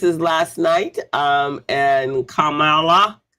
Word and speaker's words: Kamala: last night um and Kamala Kamala haris Kamala so that we know who how we pronounce her name and then soon to